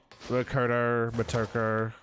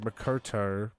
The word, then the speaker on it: Motoko: Motoko. Wait, Motoko. It's M-O-T, right? Not M-O-K.